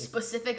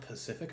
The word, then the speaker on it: Pacific: It's The like- specific ocean? I think it's pronounced Pacific Ocean.